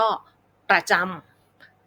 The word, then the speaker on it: ประจำ: นะ คะ แล้ว ก็ ประจำ ประ จะ ออก เสียง เบา ๆ ไม่ ลง น้ำ หนัก นะ คะ แล้ว ก็ เน้น เสียง ที่ จำ นั่น เอง ลักษณะ นี้ นะ